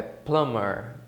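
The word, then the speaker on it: plumber: clamor não o âmbar é plamar tamer como se o bebê ele não existisse na pronúncia a o construtor né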